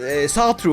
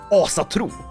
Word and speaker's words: Ásatrú: And no, it's not Ásatrú or Sátrú or all the things I hear Americans say. I know I mispronounce words, but this is Ásatrú, meaning the faith of the Æsir.